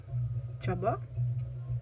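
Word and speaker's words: Csaba: lale there are two variations then another name chaba and then takshon and then burchu again the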